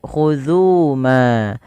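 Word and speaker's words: خُذُوا: di sini kita lihat khudhu ma, zu Ada hukum tajwid berupa mad tabi'i ditandai dengan huruf zal yang bertemu dengan waw. Tapi lihat di sini ada alif. Alif di atas ini dianggap tidak dibaca.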